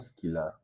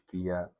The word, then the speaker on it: Skilla: It's not Skilla, it's Skia. I bet some people they say Skilla, and I'm like, do I correct them? Do I leave them? I know it's spelled as Skia, but it's pronounced Skia. I'm Spanish in my head.